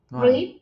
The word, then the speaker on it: read: En pasado se escribe exactamente igual, pero se cambia la pronunciación al color rojo. Entonces, en pasado, cuando dijo yo leí un libro ayer, yo no digo read, digo I read a book yesterday.